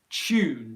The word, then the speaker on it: tune: um question so again this has that yeah sounding uh tune tune tune however there's two ways